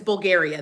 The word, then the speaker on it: Bulgaria: It's Bulgaria.